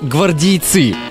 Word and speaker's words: гвардейцы: людей прописанных в армейские многие ошибочно полагают что жителей гвардейска нужно называть гвардейцы или гвардейцы однако правильно ставить ударение на второй слог гвардейцы если вдруг вы